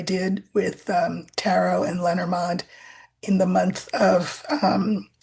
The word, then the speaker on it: Lenormand: Uh I wrote a book called The Language of Lenormand or Lenormand or Lenormal, however you want to pronounce it. Um it's uh it's called The Language of Lenormand, and it's uh a really friendly guide.